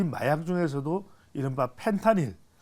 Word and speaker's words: 펜타닐: 자, 그래서 이제 이 펜타닐인데 이 펜타닐 뭐 판타닐 이렇게 발음하시기도 하는데 이게 말 그대로 사람이